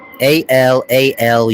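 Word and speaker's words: Alalu: A L A L U pronounced al allalala or alal.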